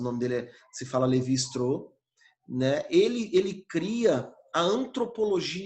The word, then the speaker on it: Lévi-Strauss: Se escreve aí Levi Strauss, mas o nome dele se fala Levi Strauss, né?